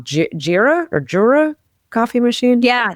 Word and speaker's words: Jura: Jira or Jura coffee machine. Yeah, the Jura.